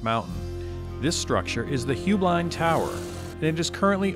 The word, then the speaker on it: Heublein: There's actually three pronunciations. Heublein is the family, Heublein is the business, and the actual correct Bavarian pronunciation is Heublein.